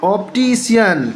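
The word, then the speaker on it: optician: अब इसके बाद मैं आपको बताता हूँ, सी का उच्चारण शा होता है।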